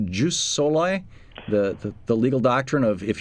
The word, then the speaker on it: jus soli: of countries have backed away from, is it pronounced jus soli, the legal doctrine of if you're born here, you are a citizen?